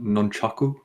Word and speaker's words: nunchaku: pamphlets for comfort yes you know they're actually pronounced nunchaku none chuckle and it's yeah I'm pretty much